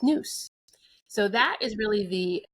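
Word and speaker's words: νοῦς: And I think that leads nicely into the third virtue, which is understanding, or in Greek, that's pronounced nous.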